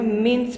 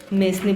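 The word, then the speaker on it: mesne: मेंस profit जो होता है, मेंसनी प्रॉफिट बोलते हैं बहुत सारे लोग उसको, कोई मेंस प्रॉफिट बोलता है, साइलेंट होता है इसमें। मेंस प्रॉफिट जो होता है, इसमें जो डिग्री दी जाती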